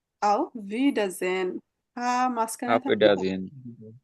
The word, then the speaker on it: Auf Wiedersehen: এখন আবার দেখা হবে অফিসিয়ালি যদি আমরা বলি, হ্যাঁ অফিসিয়াল মানে কলিগদের সাথে কথাবার্তা বললে আউফ ভিডাজেন, শব্দটা একটু বড়। এখন Auf Wiedersehen. আউফ ভিডাজেন, মাঝখানে Auf থাকবে, Wiedersehen.